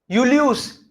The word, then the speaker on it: Julius: Julius, yeah, not ze. Yacht, so yeah. That's why for reading also it is very important. Julius against se, because after S vowel is not there. After S, if there is a vowel, it becomes z, but here it is se only.